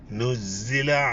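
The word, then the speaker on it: نُزِّلَ: ഹർക്കത്ത് നീട്ടിയത് അല്ലി എന്നുള്ളതും നുസ്സില എന്നുള്ളതും ദായും സായും ആണ് നല്ല ഉച്ചാരണത്തിൽ വ്യത്യാസമുണ്ട് ശ്രദ്ധിച്ചു ഉച്ചരിക്കാം നുസില അലൈഹി ദിക്റ് വീണ്ടും ദാലാണ്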